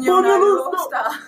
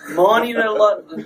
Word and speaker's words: Muonionalusta: I can't pronounce it, so I'm going to leave it up to them. Muonionalusta. Muonionalusta. Yeah, one more time. Muonionalusta meteorite. That meteorite. It's a Finnish name, but found in Sweden.